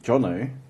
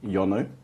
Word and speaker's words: Jono: differently um for instance I have shortened my name from Jonathan to jonno but then there's still people that goes Yono or like they pronounce it differently I was like I'm